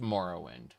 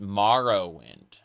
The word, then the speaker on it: Morrowind: I mean to be fair it is pronounced Morrowind. Um but then there are some NPCs that call it Marorrowind as in like a bone marrow.